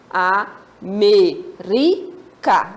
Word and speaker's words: América: penúltima e antepenúltima desculpa palavra América quantas sílabas nós temos a merica né Nós temos quatro sílabas última penúltima e antepenúltima Tranquilo nossa professora tá fácil